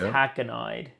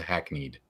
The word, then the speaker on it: hackneyed: but I know yeah I thought it was a hack an IED but had to look it up so I can figure out how do I pronounce it is a hackneyed yeah yeah I know